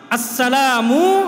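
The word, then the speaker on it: السلام: অশুদ্ধ সালাম না, আসসালামু আলাইকুম না, আসসালামু মিমের পেশ ভালো করে উচ্চারণ করতে।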